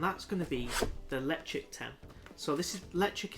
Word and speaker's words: Ledaig: Yeah, gotta pronounce it right, Ledaig.